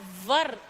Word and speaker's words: were: No beta, See, W-H-E-R-E is pronounced as where, and W-E-R-E is pronounced as var.